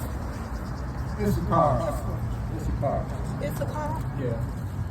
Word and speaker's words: Issachar: How do you pronounce it? Issachar.